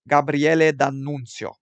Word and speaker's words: Gabriele D'Annunzio: Pronounce some of these Italian names. Gabriele D'Annunzio.